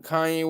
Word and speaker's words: Kanye: So KRS already had an album called Blueprint, and it's weird that it's on Kanye West.